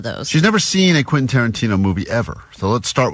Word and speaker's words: Quentin Tarantino: And she's never successfully pronounced Quentin Tarantino. That's true. All week, as she's been talking about this prize we have, she's been saying, Quinton? Quintanana. So we're like, what? You talking about Quentin Tarantino still?